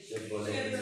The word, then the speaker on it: Chevrolet: Chevrolet. Chevrolet is a French. The T is nuclear. Chevrolet. But if I put a vowel at the end, now read it. Chevrolet.